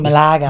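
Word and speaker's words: Málaga: But um and like Malaga, they call it Maaga.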